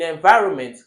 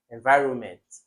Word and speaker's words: environment: Okay, note that in environment we have an N. Please note that although we don't pronounce it, it's kind of voiceless, but there is an N in the spelling. You call it as environment, but there is an N.